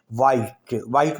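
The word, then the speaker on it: white: वाइट में H silent है, वाइट का माना है सफ़ेद।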